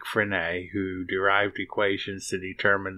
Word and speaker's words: Frenet: significant modes are various flavors of frenet sometimes pronounced phrenic so named for Jean Frederick frenay who derived equations to